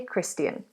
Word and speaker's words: Christian: One thing to note is that this sound at the end is not Christiane, it's Christian. It's a schwa sound.